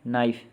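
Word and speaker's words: knife: के साइलेंट वाले वर्ड्स देखेंगे। नॉक, खटखटाना। नाइफ, चाकू।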